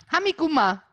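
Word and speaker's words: Tha mi gu math: Und genauso spricht man es aus. Hamiguma.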